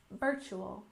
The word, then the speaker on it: virtual: term is virtual reality with a stress on the first syllable in Virtual ual virtual and stress on the